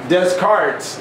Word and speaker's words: Descartes: During this age of reason, some anatomists who followed Descartes, that's how his name is pronounced, administered beatings to dogs with perfect indifference